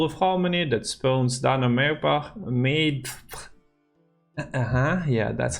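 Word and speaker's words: Dana Méadbh: And we have Call of Harmony that spawns Dana made. Yeah, that's how you pronounce it, which is a relic, another unique category, and it is a harmony unit.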